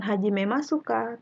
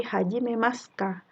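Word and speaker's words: 始めますか: Bacanya bukan hajimemasu ka, tapi hajimemasu ka. U-nya hilang.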